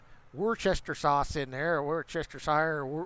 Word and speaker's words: Worcestershire: sauce in there, or Worcestershire, or Worcester. There's not Chester. There's no Worcestershire. There's no Chester in it at all, even though everybody pronounces it that way.